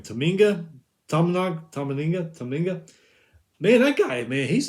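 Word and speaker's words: Tominaga: Tominga.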